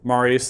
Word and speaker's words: Marius: Now, Marius is how you pronounce it.